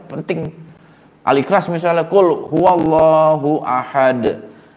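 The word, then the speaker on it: أحد: Al-Ikhlas misalnya qul huwallahu ahad. Aslinya itu kan pendek. Ada juga bacanya qul huwallahu ahad. Ahadnya panjang. Biar keren.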